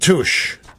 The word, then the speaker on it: Touche: Used to be Deloitte and Touche. Don't know what happened to Touche. I guess Deloitte ate Touche. Or Deloitte consumed Touche. You had to be sure to pronounce the T there.